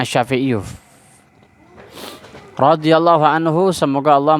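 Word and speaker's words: الشافعي: Badal jadi pengganti ya makanya bacanya as-syafi'i uh rodhiyallohu Anhu semoga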